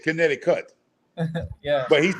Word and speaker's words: Connecticut: I love it now me saying kinetic kit it's not kit it's kinetic cut yeah but he's saying